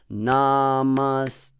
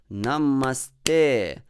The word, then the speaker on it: namaste: devotees singing this especially in the beginning as namaste so it sounds as if the first three syllables are long namaste but it's not in